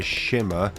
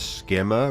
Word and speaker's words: shimmer: going to be a shimmer I keep trying to I keep mispronouncing it as skimmer rather than having it as a h as a k instead I'm not the